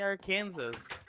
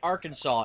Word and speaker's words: Arkansas: it's illegal to say our Kansas it's illegal to mispronounce the name of the name of the State Arkansas in Arkansas foreign Kansas even though it's literally Kansas with ar put in front of it yep